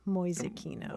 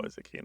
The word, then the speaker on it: Mäusekino: How do you spell that, Mäusekino? M-A-umlaut-U-S-E-K-I-N-O, Mäusekino. Mäusekino.